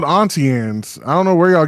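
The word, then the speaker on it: Auntie Anne's: pretzel place here well it's not called antan it's called atian I don't know where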